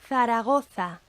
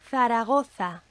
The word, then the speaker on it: Zaragoza: And in most of Spain, it's pronounced like the TH, the th, in thick or bath.